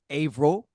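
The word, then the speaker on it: Averill: A V E R I L. Ail. A. Why would they add the E? The E is silent.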